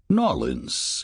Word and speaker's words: New Orleans: New Orleans, as us locals say it.